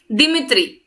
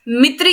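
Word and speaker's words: Dmitri: बहुत सारे फैकल्टीज को प्रोनाउंस करते हुए देखा मैंने, दिमित्री, दिमित्री, दिमित्री इज नॉट the correct pronunciation, ठीक है, क्योंकि डी is going to be silent, ये साइलेंट है, हमें बोलना है मित्री इवानोस्की, ठीक है, मित्री इवानोस्की नाम है इसका, है ना।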